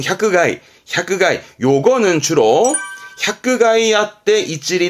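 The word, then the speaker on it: 百害: 발음은 샤크가이.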